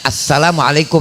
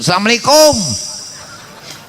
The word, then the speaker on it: assalamualaikum: Tulisannya bacanya assalamualaikum. Nama Allah itu jangan asalamualaikum.